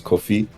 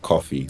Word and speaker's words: Kofi: My first name is Kofi, um but back in primary school, everyone used to pronounce it like coffee, like the drink.